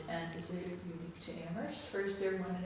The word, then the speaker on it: Amherst: We know we live in Amherst where only the H is silent.